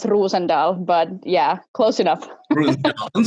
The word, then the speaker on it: Rosendahl: have you on the show so uh rosendale is that correct it's pronounced rusendal but yeah close enough i'm sorry okay well